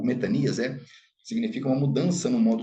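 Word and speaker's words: μετάνοια: Pregando baptisma metanias, né? Na pronúncia erasmiana, muito conhecido como metanoia, né?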